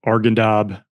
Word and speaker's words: Arghandab: So this is you new unit, um, and you're going into the Argendab river valley. Is that how you pronounce it?